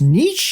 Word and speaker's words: niche: supposed to be pronounced niche it's like where did that come from well technically it is a french name so i am the